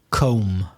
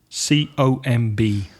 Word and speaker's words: comb: Comb. C-O-M-B. Comb. That word often gets mispronounced, doesn't it?